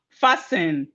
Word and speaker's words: fasten: We have fasten. Fasten. The T is also silent in fasten.